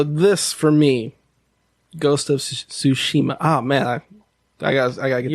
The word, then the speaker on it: Tsushima: No, it's spelled B-A-N. It doesn't matter. Ghost of Tsushima.